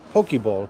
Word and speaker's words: poke: and I called it poke bowl. That's what it says in Korea, poke. And people are like, no, it's pronounced poke. And I was like, look, it literally says poke.